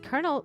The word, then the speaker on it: colonel: but back to uh colonel is pronounced colonel colonel really english is so weird maybe shut up you